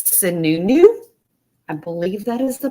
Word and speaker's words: Sununu: I believe it's Sununu. I believe that is the proper pronunciation.